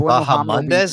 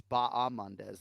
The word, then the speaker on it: Bahamondes: Is it Bahamondes or Bahamondes? It's neither. It's Bahamondes. The Chileans will be all over you for pronouncing that.